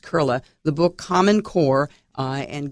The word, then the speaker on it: Koehle: It's German, but it's Koehle, pronounced Koehle.